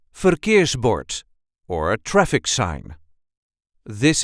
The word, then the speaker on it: verkeersbord: a regular Dutch accent forbort or a traffic sign this is the way we say forbort I know the rolling R is a bit difficult so try this one